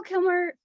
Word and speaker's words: Kilmer: Kilmer.